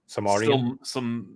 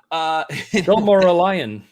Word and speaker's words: Silmarillion: I will try to pronounce it. Samarian. Samaria. Nope, it's unpronounceable. Never mind. Silmarillion.